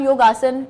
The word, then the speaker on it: योग: असल ये हिंदी ज़बान का लफ्ज़ है योग। योग, ओके। जब योग फेमिलर हुआ, वेस्टर्न साइड पे गया, अमेरिकन, यूरोप में गया, तो उनसे बेसिकली उनकी जो लैंग्वेज का प्रोनाउंसिएशन प्रॉब्लम था, तो योग उनसे बोला नहीं जाता था। अच्छा। तो वो योग को योगा उनके जो मुंह से